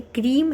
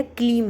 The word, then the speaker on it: क्रीं: कई बच्चे इसके उच्चारण में कंफ्यूज हो जाते हैं कि दीदी आप बताइए ये क्रीम है या क्लीम है। तो मैं बता दूं कि माँ का जो बीज मंत्र है वो क्रीम है।